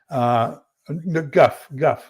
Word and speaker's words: Goff: Guff, like it rhymes with tough.